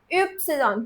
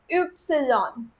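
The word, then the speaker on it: Ypsilon: Upsilon. The letter itself is pronounced as, the Y letter is pronounced as Upsilon.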